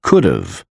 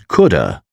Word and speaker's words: could have: Could have is pronounced as could've before a vowel. They could have invited us to the party. Could have is pronounced as coulda before a consonant.